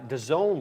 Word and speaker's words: DAZN: Dazn, that's Dazn. Yeah. That reminds me of my cousin who pronounces every name wrong.